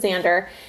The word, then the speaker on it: Xander: so it would just, when you say Xander, I would just think Z.